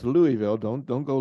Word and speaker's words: Louisville: I may ask Louisville ah okay and it's pronounced Louisville don't don't go Louisville or whatever well I appreciate it that's no